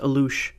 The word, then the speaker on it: Alux: The Alux, pronounced Alush, plural Aluxoob, is a small spirit figure from